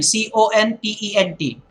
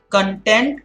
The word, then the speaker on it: content: Content and content. Now, content is a satisfaction. I am content. That means I am satisfied. But if you pronounce it as content, then you are referring to the ingredient, something that is included into it.